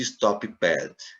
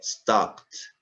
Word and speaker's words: stopped: Nada de stop pad. É stopped.